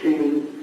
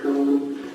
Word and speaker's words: Koehn: It's Kane. Kane? I didn't pronounce it Kane, so Cohen.